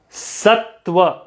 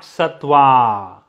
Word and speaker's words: sattva: are the three gunas sattva not satwa sattva rajas means something else